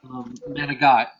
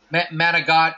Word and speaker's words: manicotti: that's what people manot managot is what it's called in Italian but but people pronounce it manicotti cuz that's how it's spelled but it's like a